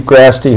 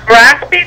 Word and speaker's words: Grasty: Representative, this is Grasty, Harney County Judge. Hi, Mr. Graspy, did you say? It is Grasty, and it's spelled like nasty.